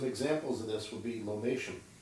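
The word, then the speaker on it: lomatium: Some examples of this would be lomation, or sometimes it's pronounced lomaticum.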